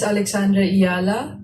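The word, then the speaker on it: Alexandra Eala: search natin and then syempre ito yung pagbigkas ng kanyang apilyedo pakinggan natin. My name is Alexandra Iala. Alexandra Iala.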